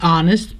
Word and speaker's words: honest: An honest person. The H here is silent and the word starts with a vowel.